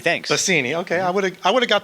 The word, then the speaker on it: Basini: Basini, thanks. Basini.